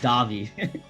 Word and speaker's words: Davy: It's actually pronounced Davy.